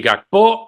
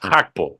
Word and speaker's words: Gakpo: nos dijeron Pues mira ni gpo ni gakpo es hapo Venga pues lo volvemos